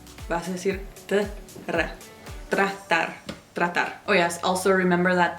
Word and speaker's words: tratar: vas a escuchar que la T y la R no son un sonido, están separados. Nosotros, nosotros. Kilómetros, tratar. No vas a decir tratar, vas a decir tratar.